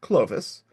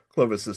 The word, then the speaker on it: Clovis: bapt baptizing their King Clovis a name which today is pronounced more like Louie which you and you'll